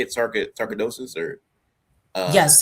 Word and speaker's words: sarcoidosis: Sarcoidosis or yes, sarcoidosis.